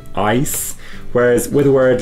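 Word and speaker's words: Eis: it because in german when you have a word like ice e i s you pronounce it as an i sound because in that e and i diphthong the i comes second so you pronounce it ice whereas with the word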